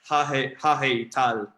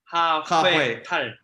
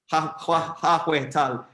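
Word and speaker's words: 하회탈: So I'm going to pronounce this incorrectly, but it's like hahe tal, the traditional Korean masks. Nice one. Yeah, nice one. Yeah. Okay, nice. Yeah, how do you pronounce it again? Accurately? 하회 tal. 하회 tal.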